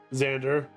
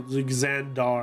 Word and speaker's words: Xandar: silver Helm was dropped Xander Xander no xandar I believe is that how I pronounce his name yes xandar anyways austan is